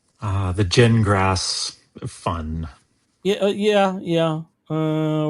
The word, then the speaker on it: Gingras: Uh, the genrass fun. Yeah. Yeah. Yeah. Uh where is that one? God, I got so many pages now. It's pronounced gin like you drink and grass like you mow.